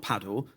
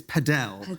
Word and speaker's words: padel: Now, DR, when we did the preview podcast, you were very excited about something called, not paddle, because you corrected me that I pronounced it wrongly, it's padel, apparently.